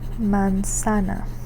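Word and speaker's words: manzana: And our example word for that is going to be the word for apple which is mansana. Mansana. So, m mansana mansana apple m.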